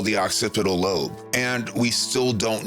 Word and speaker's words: occipital: octave octipital acapell okay Google how do I pronounce octipodal lobe just say it thank you a section that we call the occipital lobe and we still don't know how it